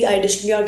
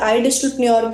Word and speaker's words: iDigitalPreneur: ये हो गई हमारी फाउंडर की प्रोफाइल की बात, हमने करी कंपनी की बात, हमने करी iDishlepreneur के वर्टिकल द रिच की बात.